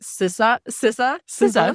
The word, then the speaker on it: SZA: because I feel like I always say her name wrong. Like, so please, I hope I say it right. SZA. Sure. Yeah. Sissa.